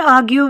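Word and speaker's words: argue: Don't आर्ग्यू with me, मेरे साथ बहस मत करो। इसमें आर साइलेंट होगा।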